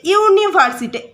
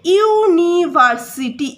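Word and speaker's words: university: ইউনিভার্সিটি, ইউনিভার্সিটি, ইউনিভার্সিটি, ইউ এর উচ্চারণটা ইউ এর মতো হচ্ছে, সেই জন্য এটার ভাওয়েল থাকা সত্ত্বেও এর আগে এ বসবে।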